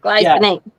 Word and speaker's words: glycinate: Glycinate. Glycin. Is that how you pronounce that? Yes. Yeah. Glycinate.